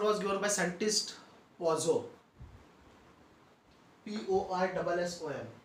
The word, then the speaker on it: Poisson: P-O-I-S-S-O-N. Its pronunciation is Poisson.